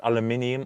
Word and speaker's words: aluminium: In this car, I've got carbon fiber, I've got brushed aluminium, or aluminum as the Americans say, I've got Alcantara, and I think, again, and I call it fabric slash carpet, okay?